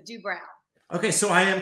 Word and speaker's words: Doobrow: we'll go there first he always says it's like eyebrows so do brown okay so i am